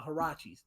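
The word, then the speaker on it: Huarache: Roche or no, the Hirachis, those ones. I think I'm saying the name right. Sean, help me out. Is that how you It's pronounce it? Arachi. It's Arachi.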